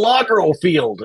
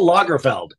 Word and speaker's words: Lagerfeld: keep calling them Locker it's Carl Locker field no it's Carl Lagerfeld God I was yelled